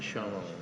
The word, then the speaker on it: Chanel: Bacanya Chanel. Bahasa Ya, ini dari Prancis.